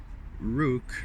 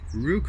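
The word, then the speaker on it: Roock: So, despite this, a GT2 prepared by Rook Racing managed. It's like the word rock but with an extra O onto it. It's spelled R-O-O-C-K. Rook Racing managed to win the GT2 class at the 24 Hours of Daytona.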